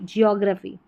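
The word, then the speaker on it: geography: पी एच वाई पी जियोग्राफी जियोग्राफी तो ग्रा की जगह यहां पर ग्र कर दें। मैक्सिमम ग्र पढ़ते हैं।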